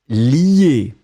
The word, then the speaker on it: lier: Donc on le prononce li, mais on va l'écrire L-I-E.